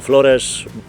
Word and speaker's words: Flores: O Flores powinniśmy wymawiać nazwę tej wyspy, mówi się, że to są Hawaje Europy.